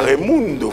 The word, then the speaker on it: Raimundo: Ah, Raimundo, faut prononcer comme ça.